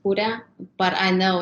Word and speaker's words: Curea: actually um you know back home my last name is pronounced cuda but i know it's